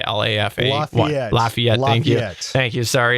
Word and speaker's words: Lafayette: la fiat lyfia how do you say lafayette lafayette thank you thank you sorry it's the canadian